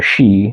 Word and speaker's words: Sidhe: The she is spelled Sidhe, where it's a fairy mound.